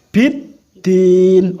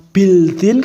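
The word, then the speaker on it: بِالدِّينِ: Biddin, ora bildin, karena biasanya kalau lam bacanya bil, tapi kalau ini bertemu dengan udah harus biddin, ora bildin tapi biddin.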